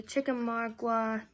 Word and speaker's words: Chickamauga: March through September is a Chickamauga, that's how you say it.